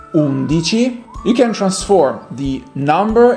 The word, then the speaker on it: undici: As 11 in Italian is pronounced undici, you can transform the number into adjective when you place that number near a noun.